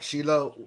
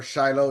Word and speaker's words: Shiloh: We're going to talk a little about Shilo or Shiloh, depending on how you pronounce it.